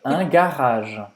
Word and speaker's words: garage: Segunda coisa, não tem M, não tem N no final. Termina a pronúncia no G. Garage, garage, un garage.